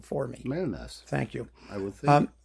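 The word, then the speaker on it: Mellnäs: You pronounce it wrong for me. Melness.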